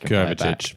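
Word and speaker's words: Kovačić: It's pronounced Kovacic, but we pronounce it Myles styles.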